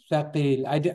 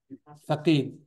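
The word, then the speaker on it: ثقيل: How do you say it? Thaqeel. I want to see your tongue stick out. Thaqeel.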